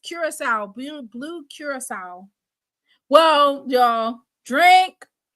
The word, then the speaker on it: Curaçao: Ooh, it's pronounced Curacao.